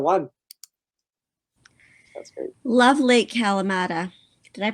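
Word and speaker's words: Kalamalka: was just the one that's great love lake kalamata did i pronounce that right calamelca it's um it's in vernon right it's in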